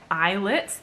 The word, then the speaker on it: islets: focus on that endocrine function so the pancreatic islets that word is pronounced like islets pancreatic islets contain two types of cells and